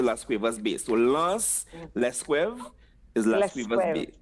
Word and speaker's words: Las Cuevas: And Las Cuevas is Lesquev. Lesquev. Lesquev. Lesquev. You say in Patois, "Mweka ale Lance Lesquev." It means I'm going to Las Cuevas Bay. So Lance Lesquev is Las Cuevas Lesquev.